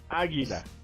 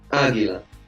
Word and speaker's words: águila: Águila. Águila. Interesantemente, el águila. It's always masculine. El águila? Yes. Oh crap. Here we go. El águila. You know why? Because No. the stress is on the first A.